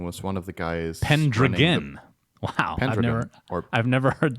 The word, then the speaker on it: Pendragon: Sounds like a kind of like hexagon, Pendragon.